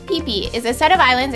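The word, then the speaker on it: Phi Phi: Future people number five pee PE pronounced peeee is a set of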